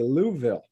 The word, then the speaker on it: Louisville: I'm going south and I've got to drive through Louisville, Kentucky. You get down to Louisville and they'll say Louisville. And some of them will say Louisville.